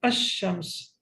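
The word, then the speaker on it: الشمس: So the letter that is saken before it will not be pronounced. For example, ashams. Asham. So what happens? Lamb is not pronounced.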